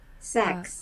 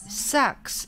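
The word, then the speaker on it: Sachs: Jim, very dear how do you say that? S-A-C-H-S. Sax. Sax.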